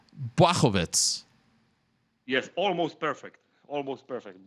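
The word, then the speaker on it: Błachowicz: Is it, now tell me if I'm right or wrong, Blachowicz? Yes, almost perfect. Almost perfect. Blachowicz. Blachowicz. Yes, now it's good. Blachowicz.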